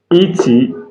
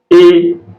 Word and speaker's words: et: So whenever you see ET, ET is pronounced as A in English. ET is pronounced as A in English, and it means and in English. So e.g., français et anglais.